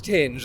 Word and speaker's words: Tinge: is it Tinge or is it Tinge? It's Tinge, a band called Tinge.